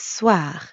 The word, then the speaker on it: soir: And the second part is soir. That means evening. Soir. The end sound is kind of like saying ah at the dentist. Ah, soir.